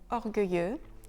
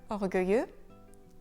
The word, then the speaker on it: orgueilleux: Donc, encore une fois ici, pour obtenir le son dur, comme dans le mot orgueilleux, il a fallu inverser les lettres.